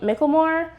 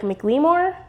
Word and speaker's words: McLemore: I've been saying Micklemore, but I think it's like McLemore.